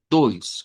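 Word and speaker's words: dois: Pero creo que es más fácil que lo veamos así con una i corta, doys, con el ditongo hoy, doys.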